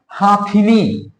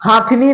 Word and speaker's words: हथिनी: अब ध्यान से देखिए, ये क्या लिखा है, हाथिनी। ये क्या लिखा हुआ है, हाथिनी। हाथिनी नहीं होता भैया, हथिनी होता है, हथिनी।